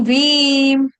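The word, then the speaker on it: दैवीम्: बड़ी ई की मात्रा अब यहां पर क्या है वन का है भ भालू के बदले व वन का लगाना है लेकिन वीम बड़ी ई की मात्रा देनी है सिंपल है ठीक है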